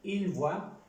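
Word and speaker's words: voient: está corregido, es que se pronuncia como esta tercera persona del singular. Je vois, tu vois, il, elle, on voit, nous voyons, vous voyez, il, elle voit. Se pronuncia igual que aquí. Solo cambia la gramática, la escritura. La pronunciación es igual.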